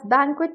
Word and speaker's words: banquet: इसकी प्रोनंसिएशन क्या है बेसिकली यूके इंग्लिश में इसको एज बैंक्विट प्रोनाउंस किया जाता है बैंक्विट बैंक्वेट बेसिकली इस प्रोनंसिएशन का रूल बहुत ही सिंपल है जहां पर भी वर्ड में यू यू इकट्ठा आता है उसकी प्रोनंसिएशन एज क्व होती है जैसे आप देखेंगे क्यू U double E queen में हम क्व प्रोनाउंस करते हैं क्यून नहीं बोलते हैं उसको एस क्वीन प्रोनाउंस